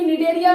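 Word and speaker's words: Cnidaria: जैसे यहाँ पर सी निडेरिया में आ रही है, ये सी साइलेंट है, ठीक है।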